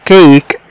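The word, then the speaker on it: cake: الحروف التانية زي كلمة كيك، هنا الاي لما بتكون في اخر الكلمة بتصبح سايلنت لا تنطق، والاي بيخلي الحرف اللي بعد منه ينطق بشكل واضح وصريح زي ما قلنا كلمة كيك، كيك يعني كيك.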